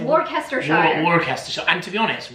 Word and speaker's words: Worcestershire: way that I'm sure Americans love hearing us pronunciate American places completely wrong. Worcestershire, what do they say? Worcestershire.